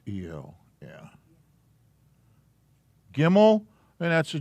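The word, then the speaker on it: גימל: if that matters oh that didn't help a gimmel i think it's i think it's eo yeah gimmel and that's a g aleph bet gimmel and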